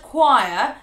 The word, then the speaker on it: choir: Doesn't make any sense, but the C and H is not pronounced ch, like you'd think it would be.